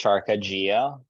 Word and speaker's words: Qarkaxhia: for us yeah so my last name is to pronounced charcogio um it does starts with the Q that's why it throws a lot of people off uh so I've been